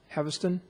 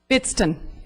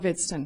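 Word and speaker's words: Hvidston: Next card I have is Haviston. Haviston, Upland. Vidston, Vidston. Say that again, ma'am. Vidston, the H is silent.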